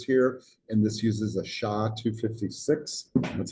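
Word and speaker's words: SHA-256: By the way, um they talk about the authentication mechanisms they use here and this uses a SHA 256.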